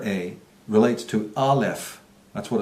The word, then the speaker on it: Aleph: So then we can understand why it is that the letter A relates to Aleph. That's what it's called in that sacred alphabet, that sacred language. It's pronounced Aleph, and it meant breath.